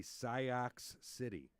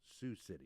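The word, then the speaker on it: Sioux City: was going to be Sio City which of course anyone with a third grade education knows is pronounced Sue City. Oh Sous City. She said yeah we're heading to Sio City.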